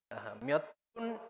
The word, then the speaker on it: 몇 분: El sonido de piup se intensifica y suena como pu. 몇 분. 몇 분이에요. Y repitan ustedes cómo se dice cuántos minutos. 몇 분 y ello.